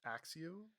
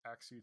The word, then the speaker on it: Axew: Do you think it's pronounced Axew or Achio? Axew.